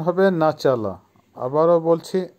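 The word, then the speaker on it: начало: নাচালা, নাচালার অর্থ হবে শুরু বা স্টার্ট বা বিগিনিং, উচ্চারণ হবে নাচালা। আবারও বলছি নাচালা।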